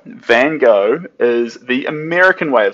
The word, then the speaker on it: Van Gogh: Van Gogh is American. So if you want to say it correctly in Dutch, the correct way is in Dutch, it's van, so van, and Gogh. Gogh. So Van Gogh. That's how you say it correctly. That's in Dutch.